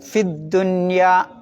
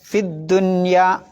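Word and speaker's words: فِي الدُّنْيَا: ഉണ്ടാവില്ല വസിലിന്റെ ഹംസയാണ് പിന്നെ ഫിദ്ദുന്യ അവിടെയാണ് ശ്രദ്ധിക്കേണ്ടത് ഫി നീട്ടാൻ ഒരു യാ ഉണ്ട് പിന്നെ എന്തുണ്ട് ഒരു വസ്ലിന്റെ ഹംസ ഉണ്ട് പിന്നെ ലാം ഉണ്ട് മൂന്ന് അക്ഷരത്തിനും ഉച്ചാരണം ഇല്ല അപ്പൊ എങ്ങനെ ഓതണം ലുനു ഫിദ്ദുന്യ ലുനു ഫിദ്ദുന്യ അവിടെ ഫീ നീട്ടണ്ട എന്നർത്ഥം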